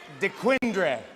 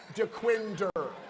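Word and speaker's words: Dequindre: How do you pronounce this word? You got it. Take a breath. Dendre. So close. Not bad. Close. Was close. One, two, three. Dwinder.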